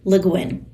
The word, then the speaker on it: Le Guin: Leguin was an American author. You may notice that her last name is French, but as an American, she pronounced it luin.